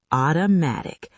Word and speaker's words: automatic: Automatic. Automatic. 4 syllables. Stress on the third.